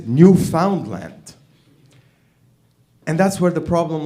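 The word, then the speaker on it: Newfoundland: And that's when I got pissed at Canadians because you say it as New Finland whereas it is new found land.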